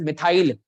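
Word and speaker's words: methyl: तो इट is pronounced as मिथाइल।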